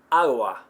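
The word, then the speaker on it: agua: five it's really soft how about the word for water AWA AWA if you've been saying AWA or for Lake you've been saying Lago right it's spelled l a g o Lago you've been saying it incorrectly and you're not going to hear it that way you're going to hear AWA for water AWA now am I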